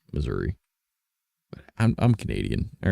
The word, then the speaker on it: Missouri: Maybe I'm pronouncing that wrong too, but it's not Misery, but Missouri.